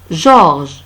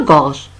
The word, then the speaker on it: Georges: Georges. Ce n'est pas gorge.